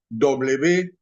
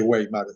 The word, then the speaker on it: Weimar: Se escribe W-E-I-M-A-R. No se dice Weimar, es Weimar.